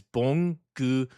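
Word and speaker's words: 봉그다: Uh, this is bonguda. Bonga. Okay, the romanized pronunciation is bonga.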